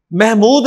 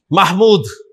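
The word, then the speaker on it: محمود: अच्छा, अब आपने अरबी में महमूद नहीं कहना, महमूद, महमूद साहब आए ना यार, वो भी देखें महमूद कहता है, वो भी महमूद, तो महमूद नहीं है, महमूद, अरबी प्रोनाउंसिएशन महमूद है, नॉट महमूद। महमूद में तो आप मीम के नीचे जेर बोल रहे हैं, जबकि यहां पर मीम के ऊपर जबर है, तो महमूदुन।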